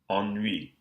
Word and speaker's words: ennui: Enivré, enneigé, ennui. So we're still pronouncing the N in these cases, but the vowel that precedes it is nasalized.